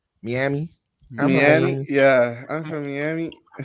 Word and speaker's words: Miami: Also, I feel like the people from Miami don't call it Miami. They say it like Miami.